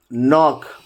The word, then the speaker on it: knock: No, knock, knife, night, knowledge. In all these words, K is before N.